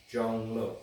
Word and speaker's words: Zhong: my name is junglow spellus z-h-o-n-g pronounced j-o-n-g Jung so um I'll see